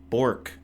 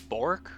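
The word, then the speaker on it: Bourque: who you got next for us we've got bour for the Dallas Stars Bor yeah can you spell it like the title of our podcast episode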